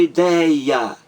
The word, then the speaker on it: ideia: A palavra ideia, 3 sílabas. A mais forte é dei, ideia.